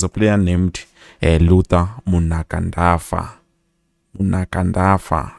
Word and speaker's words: Munakandafa: Munakandafa, I believe that is how it's pronounced.